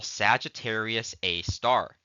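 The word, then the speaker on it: Sagittarius A*: hole which we call Sagittarius A star we actually say Sagittarius a star that that uh asterisk is pronounced as star in this case so Sagittarius A star has a mass of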